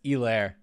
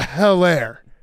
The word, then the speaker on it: Helaire: I was gonna say something just then, but it's Elaire. Yep. No, oh, we know. Yeah. Yeah, that was. No, we all know. We've never We've mispronounced never that. thought it was a Helaire.